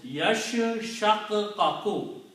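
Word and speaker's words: يَشَّقَّقُ: Yash shak kaku. Right? Sheen has a shadda and kaf has a shadda on it. That's how they are coming from here. Yashaqaqu means they split.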